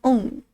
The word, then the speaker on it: ung: UNG, like the last three words of young. On. I can type. Du är ung. Or mina hund är young. Are ung. You probably don't pronounce the G at the end, so it's ung.